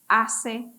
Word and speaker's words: hace: awesome and remember also we do not pronounce h in Spanish color or hace Frio sometimes you can